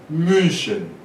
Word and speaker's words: München: München, München, Munique, München, München. Não é U nem é I, é U. Você pronuncia München, München.